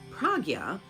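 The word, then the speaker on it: prajñā: Veda means knowledge, and Prajna, pronounced Pragya, literally means perfect knowing or perfect knowledge, and it is commonly understood as wisdom.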